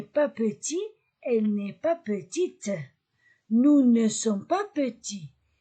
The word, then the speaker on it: petite: Elle n'est pas petite. J'ai lu T. Petite. Parce qu'il y a E à la fin.